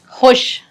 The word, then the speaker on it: خوش: بولیے۔ راجیش آج بہت خوش، آج بہت خوش۔ خوش کا اتنا اچھا تلفظ ہے کہ کان خوش ہو گئے میرے سن کے۔ ہاں ٹھیک، راجیش آج بہت خوش ہے، خے کا بہت اچھا تلفظ۔ اچھا، تو اس نے